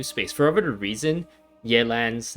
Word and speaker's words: Yelan: of my brain because i want to pronounce it yelan but then that that is like me putting like an english spin like a roman high spin to that name when like i guess subconsciously or maybe even consciously i know that the pronunciation of that is yet and with the like the proper tones and everything but i don't want